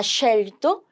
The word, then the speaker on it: scelto: 이 SC 이제 읽을 줄 알죠, 그쵸? 얘를 쉐라고 읽기로 했었잖아요. 쉐. 그래서 salve, ha scelto cosa prendere?